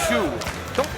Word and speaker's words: Shoe: Guys, you're supposed to go, let's go, Shu. Don't stretch it to 2 syllables. It's one syllable.